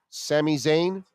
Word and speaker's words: Sami Zayn: here Kevin Owens versus Sami Zayn that's how it's pronounced Sami Zayn all right well you